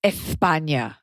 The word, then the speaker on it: España: First of all, it's pronounced España, okay? So lisp like a local.